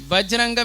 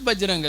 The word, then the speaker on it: Vajranga: Vajranga means thunderbolt and that becomes Bajranga. That's all. Bajranga has no meaning.